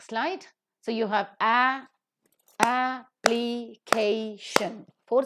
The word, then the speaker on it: application: fits into this rule K is the syllable that is present before shun and hence that is to be given accent so it is application application and accordingly you have